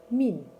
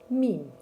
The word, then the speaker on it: мин: Мин. Мин.